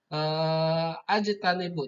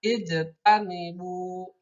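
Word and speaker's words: اجتنبوا: Karena ini dipotong-potong maka membacanya ijtanibu seperti itu. Tidak ujutan atau ajtanibu, tidak seperti itu, tapi ijtanibu.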